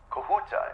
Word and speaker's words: Kahuta: Kahuta, is that the correct pronunciation?